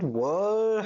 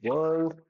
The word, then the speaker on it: world: But in this digital world, now But world, he got a little pronunciation issue. Let's see, it's actually world, right? World. World. World.